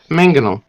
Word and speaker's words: mangonel: Mangonel. Mangonel? catapult, Yeah. Hmm. and it's called I- pronounced mangonel.